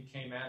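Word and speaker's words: Cayman: by the way yes they actually pronounce it in kayman they actually say kayman so I'm not sure if it'll impress people or not but they don't say Cay but everybody says it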